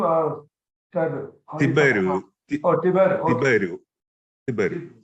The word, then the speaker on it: Tiberiu: How do you pronounce your name? Is it Tabaru or Tabaru? Tiberiu.